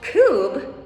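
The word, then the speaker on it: Coub: happening yes yes so kube which is spelled c-o-u-b pronounced coop so this company actually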